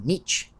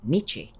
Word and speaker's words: Nietzsche: que con alguna frecuencia se refieren a Nietzsche como Nietzsche y no, es Nietzsche con la e del final que se pronuncia que es en alemán, no en francés.